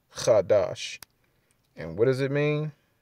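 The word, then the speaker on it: חֹדֶשׁ: Chodesh. Chodesh. That's the Yiddish way of pronouncing it, but in the Paleo Hebrew, the Lashwan Kadash, the pure Tzalakia, the Lashwan Kwadash, the pure tongue, it's Chadash.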